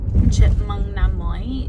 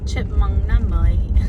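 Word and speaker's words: Chúc mừng năm mới: Well, it's called Chipmung Nam Moi is how you say Happy New Year in Vietnamese. It's the celebrate Chinese New Year. It's like Vietnamese New Year. So, chipmunk nam mai. Chipmunk nam mai. That's how you say it.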